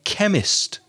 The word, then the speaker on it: chemist: of trips to the chemist so that CH has a sound chemist and chemistry so we go to the